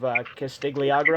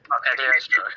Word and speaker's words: Cagliostro: Yeah, I haven't seen like a ton of it, but I've seen like parts of the Castle of Castigliagro, I think is how you say it. Cagliostro.